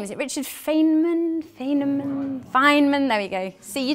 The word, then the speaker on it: Feynman: Feynman, there we go.